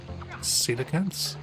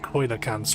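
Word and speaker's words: coelacanths: Ghost cedacantss. I always thought they were pronounced koakans or coacants, but no, I think they're pronounced cedacants.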